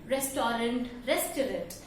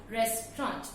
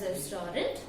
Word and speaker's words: restaurant: I repeat, the correct pronunciation of this word is restaurant. You don't say it as restaurant. And at the end, when you pronounce pronouncing this word, the T should be very low, as in restaurant.